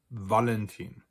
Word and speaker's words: Valentin: as French, especially French, it is almost always pronounced like a V sound, just as it would be in French or in Italian, or what we think Latin used to be pronounced like. And that's regardless of where the V is located. So for instance, we have words like die Vitrine, die Veranda. We have personal names like Veronica, Valentin.